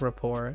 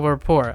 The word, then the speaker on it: rapport: to help me out this is a French word that's why it's pronounced Rapport like it's spelled this way I swear if this is a French word but Rapport I use this a